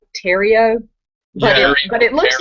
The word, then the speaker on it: Theriot: words the riot yeah I think it's like Cajun or French so I think it's pronounced something more like Terry oh yeah but it looks like the riot I kind of like